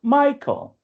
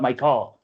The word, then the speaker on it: Michael: So, but like we know in English, the word Michael has like emphasis on the first syllable. Michael, not Michael, right?